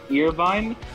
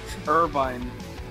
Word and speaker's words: Irvine: Earvine? That is not, that is fucking wrong as hell, dude. Irvine. Bro, I just said the E is silent.